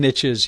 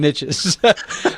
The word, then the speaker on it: niche: Um, they hear the phrases like there's riches and niches. You know, I know a lot of people say niche, but it doesn't rhyme with rich. So, I like to say riches and niches.